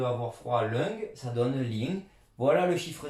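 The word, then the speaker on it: 零: pluie fine et la prononciation de avoir froid lung, ça donne ling.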